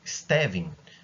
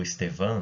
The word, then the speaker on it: Stevin: Tem um cara chamado Stevin, né, que fez, ou Estevan, né, conforme a pronúncia, que conseguiu achar isso.